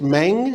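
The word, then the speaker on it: Meng: uh you've had a a incumbent named Grace mang is that's how we say her name Tom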